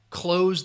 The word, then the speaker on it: close: the door all right that also sounds like clothes like what you're wearing so that is the same pronunciation close the door or I'm wearing clothes if you're talking about proximity somebody is close then that would be a different uh that would be a different pronunciation like oh you're standing very close all right so it's a difference between that close all right that final s sound close and close all